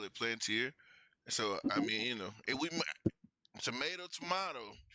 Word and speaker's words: Palantir: It's Plantier. Plantier. Okay, Plantier. Yeah, Plantier. You know what I mean? So that's not, a lot of people don't pronounce it that way. A lot of people pronounce it Palantir.